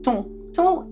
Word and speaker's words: ton: it was based on how good is your ton is a word that you'll sometimes see in Regency books. It's spelled t o n.